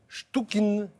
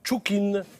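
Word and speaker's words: Chtchoukine: qu'on appelle la collection stouin ou chukin très difficile à prononcer c t ch o u K i n ce monsieur est né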